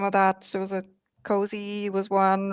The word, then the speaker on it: COAZ: AuthZen, the OpenID AuthZen working group has been working on Cozy, as you mentioned, COAZ, Yeah. pronounced Cozy.